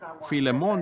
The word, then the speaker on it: Filemón: Así que Filemón dijo alguien allá atrás, lo cual creo que es la pronunciación correcta.